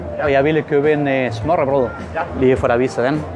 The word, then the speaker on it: smørrebrød: Eso se pronuncia smørrebrød. Nuevamente, smørrebrød, lo que significa pan untado.